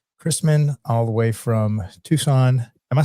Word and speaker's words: Tucson: us today, Matt Christman, all the way from Tucson. Am I saying that right? Tucson, that's how you say it, Tucson, right?